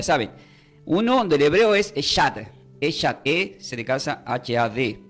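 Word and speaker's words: אחד: Entonces, pero la palabra uno significa del hebreo, quieren tomar notas, se puede deletrear como C de casa, H-A-D, y se pronuncia como Eshad. Se pronuncia como Eshad, la palabra uno.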